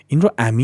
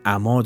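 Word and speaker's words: عمی: digar assal" Don't read the term as "ami" in "In nadānestand ishān az amā" is correct Don't read is as "ami" it's incorrect. I've heard some read it as "ami" "Amā" means to go blind.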